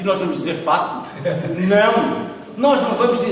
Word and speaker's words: facto: As pessoas tomam isto, tratam disto com uma tão grande ligeireza que naturalmente nem reparam que a palavra facto, o C não é mudo.